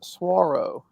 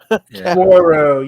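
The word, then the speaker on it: Saguaro: He's got it spelled Segura, but he's letting me know it's pronounced Swaro. Swaro, yes.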